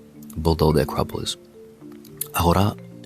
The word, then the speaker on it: agora: Agora, you pronounce as agora in English.